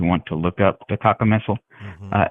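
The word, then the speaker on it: cacomistle: to look up the Taka missile. Mhm. Uh, it is spelled C A C O M I S T L E like mistletoe with kaka in front of it.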